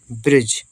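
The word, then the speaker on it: bridge: से छोटी की मात्रा डी साइलेंट है जी से जा ब्रिज ब्रिज मतलब पुल ब्रिज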